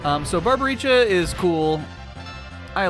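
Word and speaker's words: Barbariccia: The Lord of Wind, Barbaricha. What? No, you have to say it like that, Cecil. Barbaricha.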